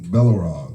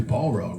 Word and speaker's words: Balrog: I think it was Balrog, right? Balrog. I don't want you to mispronounce it.